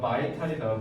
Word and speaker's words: vital: 네, exhibit 전시하다, reinforce 강화하다, sophisticated 세련된, 정교한, combat 전투, vital 이거 비탈 아니다 vital이다 vital 그래서 필수적인 핵심일 그다음에 demonstrate 이거 입증하다라고 하셔야 돼요.